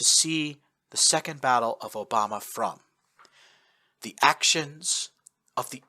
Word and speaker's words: Obama: Obama, spelled and pronounced the same way as a certain U.S. vice president, was a small Japanese